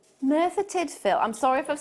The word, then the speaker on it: Merthyr Tydfil: Merthyr Tydfil. Merthyr Tydfil.